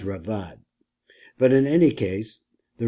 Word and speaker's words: Raavad: rambam a lot so this is a different robit or I think it's pronounced Rad but in any case